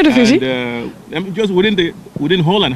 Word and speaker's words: Eredivisie: comes to the Eredivisie, and did I say it right? Eredivisie? Mm-hmm. Yeah, Eredivisie.